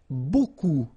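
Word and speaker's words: beaucoup: you want to use Buu Buu means a lot of it look it looks a bit strange Buu like that remember you don't pronounce the final P okay and then you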